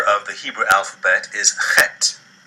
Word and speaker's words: heth: The letter Chet has a pronunciation that might best be likened to the CH in the Scottish word loch, as in Loch Ness or Loch Lomond, or like the CH